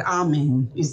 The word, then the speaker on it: Ameni: Evelyn, Bradford, Kai Evelyn, Title track is Ameni, or into bracket, Amen, is the same. A-M-E-N-I. A-M-E-N-I. Right. South Africans have pronounced it, Ameni.